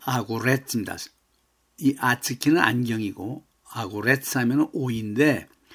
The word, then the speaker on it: огурец: 아츠키 또 아구레츠입니다.이 아츠키는 안경이고 아구레츠 하면은 5인데 왜 5를 아로인 발음하느냐면은 엑센트가 없기 때문에 r로 해야 됩니다.